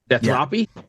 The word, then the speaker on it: Deathropy: there so death Ry is that how we're pronouncing it deathy yeah deathy yeah okay formed in 2022 for